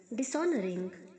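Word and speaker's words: dishonor: करना, तिरस्कार करना, डिसऑनर्स, डिसऑनरिंग। एच साइलेंट है बच्चों, डिसऑनर में एच साइलेंट है, डिसऑनर नहीं बोलना है, डिसऑनर।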